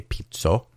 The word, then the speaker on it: Pizzo: And the city of Pizzo, which is spelled like pizza with an O instead of an A, Pizzo, they have a famous ice cream called Tartufo, and Tartufo generally means truffle.